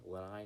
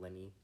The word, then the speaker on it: Lenape: the the correct pronunciation Leni not Lenny I again I I